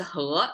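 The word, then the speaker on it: 禾: Okay, left side pronounced as he.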